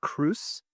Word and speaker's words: Cruice: And your last name, so it's pronounced Cruz. Cruz. Yeah, like juice.